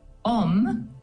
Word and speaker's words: om: consider first of all om uh is a very powerful Sanskrit sound or word and it has three syllables traditionally the Au U and the m and these vibrate in